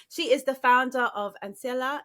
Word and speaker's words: Ancilla: She is the founder of Ancilla. Did I pronounce that correctly? Yes, perfect. Ancilla. I said it perfectly.